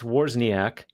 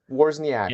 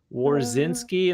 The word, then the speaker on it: Wawrzyniak: it's Wawrzyniak, Wawrzyniak. and funny enough, a lot of people not only mispronounce it, but get so tripped up that they start adding SKI at the end.